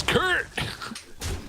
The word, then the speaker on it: Kurt: It's Kurt! You're not saying it right. I can't, sorry. I have to pronounce vowels. I apologize. Kurt. Squirrel. Yeah, you really gotta Squirrel. you really gotta get down low with the R, right?